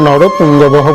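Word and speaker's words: নরপুঙ্গবঃ: পুরোজিৎ কুন্তি ভুজশ্চ শৈবশ্চ নরপুঙ্গবহ, তেমন কিচ্ছুই নেই, জাস্ট একটা বিসর্গ আছে, বিসর্গের জন্য আপনি নরপুঙ্গবহ বলবেন।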